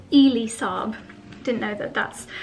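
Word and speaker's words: Elie Saab: Someone actually left me a comment saying it's Ely Saab. Didn't know that that's how you pronounce it, from their collection.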